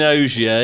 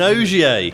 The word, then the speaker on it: Ogier: Sebastian Ogier. You even got the name in the window. Say it properly. Sorry, he's Sebastian Ogier.